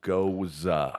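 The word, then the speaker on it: Gose: do you have any goza and it's not it's not gyoza like there's no Y in there but it's spelled g-o-s-e but it's pronounced goza now when I've come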